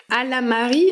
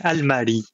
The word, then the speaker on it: Almari: Ça m'amène au projet Alamari. Alors, est-ce que je le prononce bien? Oui, c'est Almari. Almari.